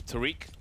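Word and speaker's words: Tarik: Tarek hiding on the site. Or Tariq. That's how you pronounce his name.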